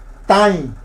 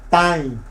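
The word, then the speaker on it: tãi: Tain. La A es nasal. Recuerde la virgulilla, entonces se pronuncia acá en la nasalidad. Tain. No digo tai. Tain. ¿Vio que suena distinto?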